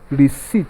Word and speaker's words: receipt: a is pronounced as receipt not received yes dp is silent re sits the p is what is silent long e dp silence